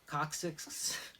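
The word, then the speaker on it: Kocsis: these look very similar to the old Jeff Cox's. It's spelled K-O-C-S-I-S.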